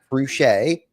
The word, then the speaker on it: Fruge': few other people say it wrong so cret boom you got it okay nailed it welcome